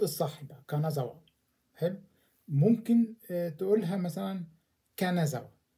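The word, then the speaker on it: 金沢: فأنا أقول مثلا كانازاوا، حلو، ده النطق الصح بقى كانازاوا.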